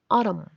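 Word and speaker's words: autumn: no saber mientras que la n se vuelve muda después de la m como en autum otoño colum columna otros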